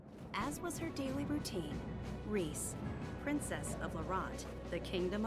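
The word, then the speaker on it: Riesz: name for us okay it's it's Rhys the Zed is silent we'll get sexy mage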